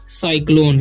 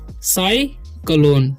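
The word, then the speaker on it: cyclone: ओ एन ई तो इसे पढ़ते हैं हम साइक्लोन क्या पढ़ते हैं साइक्लोन ठीक है साइक्लोन ओके तो यहां पर देखिए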